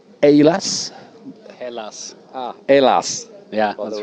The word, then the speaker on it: Hallas: with two members from a band called aylas alas yeah that's right pronunciation so first of all thanks uh for